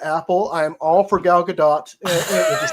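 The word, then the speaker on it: Gal Gadot: please eat that Apple I am all for galgadot is how you pronounce it by way I'm like I'm totally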